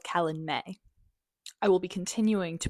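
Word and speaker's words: Calanmai: In the first Acatar book, there's this event spelled like this. And I would call it Kalen Mai, but I just realized it's called Kalen May.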